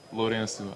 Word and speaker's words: Lorenzo: what I'm called, uh, I never say it in the Portuguese way, Lorenu. I never pronounce my name Lorenu. I'm not like, "Yeah, I'm Lorenu. Nice to meet you." It's more of like, "I'm Lorenzo with a Z."